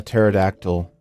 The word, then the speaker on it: pterodactyl: can't you hear a pterodactyl use the bathroom because the p is silent hi guys I am